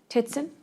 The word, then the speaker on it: Zitzen: Is it pronounced Titson? Titson. Welcome. Thank you. May I begin? Yes, you may proceed. My name is Zitzen, and I am an assistant district attorney here in Nueces County.